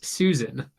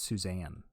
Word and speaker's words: Suzanne: three oh no not Susan no it's Suzanne what I refuse to pronounce it like that sus an um this one is